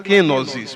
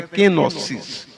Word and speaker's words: kenosis: grega que significa kenosis há quem fala kenosis mas a pronúncia certa é kenosis ah e aí fala